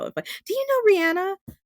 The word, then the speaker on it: Rihanna: And that's the way you pronounce her name is actually Rihanna, not Rihanna.